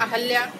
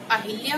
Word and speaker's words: अहिल्या: और अरमूद गलत ही लिखा जाएगा, तो सही उच्चारण क्या होता है उसका, अमरूद। अहल्या, अब नाम तो अहिल्या होता है लेकिन जब उच्चारण करते हैं तो